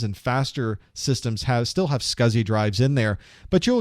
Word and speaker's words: SCSI: It's pronounced SCSI.